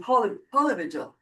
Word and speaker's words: polyvagal: teachings, and polyvagal theory, which the accent is on polyvagal.